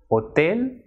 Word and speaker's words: hotel: a gimnasia Argentine H which is pronounced as H a it is always silent and it will not be pronounced at all and it will not